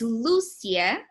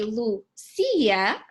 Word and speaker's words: Lucia: example is my name my name is Lucia and it has an accent on the U but actually I started to write my name in the US without the accent so whenever people say Lou see ya I'm actually okay with it because you know I